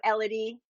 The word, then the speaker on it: Elodie: So Elodie. I know some people say Elodie. I say Elodie.